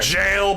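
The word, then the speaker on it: gaol: And I know it's Like pronounced there. jail, but I'm gonna say Gale.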